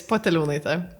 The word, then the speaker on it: Poteliūnaitė: from Lithuania, now living in the Netherlands, Poteliūnaitė, or something like that. How do I pronounce it correctly? It's Poteliūnaitė. Poteliūnaitė.